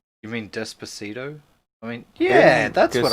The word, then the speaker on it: Despacito: Because I call it despacio. Despacito? That! Despacito. That! Despacio. I can't say it right. Why can't you say it? Well, I can when, like, somebody else says it. But whenever I read it, my brain goes despacio.